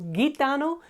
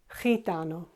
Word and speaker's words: gitano: Okay, it's not gitano, it's gitano. Okay, as you see, in these exceptions, it all depends on the letter that comes afterwards.